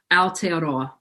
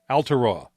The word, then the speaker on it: Aotearoa: I don't know how to pronounce this one. That you make the effort means the world. Aotearoa. Aotearoa.